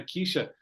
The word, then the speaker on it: Keisha: She kept calling her Keisha, like mispronouncing her name in a way, Keisha. And then I said to her, no, Keisha.